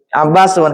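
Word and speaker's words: عباسٌ: Tidak tanwin bacanya. Nama perempuan. Dan nama perempuan termasuk mamnu sorof. Ahsan. Silakan. Abbasun.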